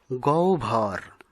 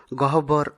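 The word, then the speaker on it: গহ্বর: গভর আমরা ভুলবসত গহবর উচ্চারণ করে থাকি।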